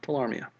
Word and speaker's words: tularemia: Tularemia. Tularemia? Tularemia. Silent E.